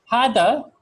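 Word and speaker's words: هذا: So Hada is written like this, but it's actually pronounced like this. So it's pronounced like there's an alif after the ha.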